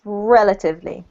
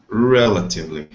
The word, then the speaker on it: relatively: relatively well done so the emphasis is on rel carlos relatively relatively good and the same